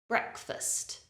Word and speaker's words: breakfast: syllable is not stressed it has a weak uh sound so it's not fast it's first listen breakfast breakfast next up is